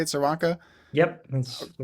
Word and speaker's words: Czerwonka: Is that how you say it, Czerwonka?